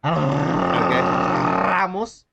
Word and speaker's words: Ramos: Anthony Ramos. Ramos. Okay, you're doing that too much, man. Come on. That's the way you say his name, all right?